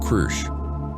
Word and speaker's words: Kru: This one is called Kru. He pronounced it with a rolling growl that her translator struggled to copy.